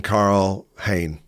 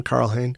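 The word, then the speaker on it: Karl Hein: easy way of of doing it is keeping Carl Hayne. Um, our Estonian friends tell me that's how you pronounce his name, Carl Hane.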